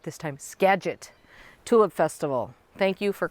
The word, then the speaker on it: Skagit: from the okay I get the chance to pronounce it right this time Skagit Tulip Festival thank you for correcting me on